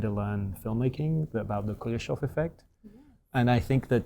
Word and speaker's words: Kuleshov: I did learn when I was doing my own kind of trying to learn filmmaking about the Kuleshov Effect. And I think that Chaplin is famous and Kuleshov is less so, but he deserves to be more.